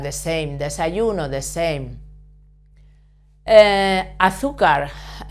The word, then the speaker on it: azúcar: Azúcar, we stress this syllable because it has a written accent.